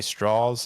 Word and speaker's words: Strauss: Strauss is how he pronounces it.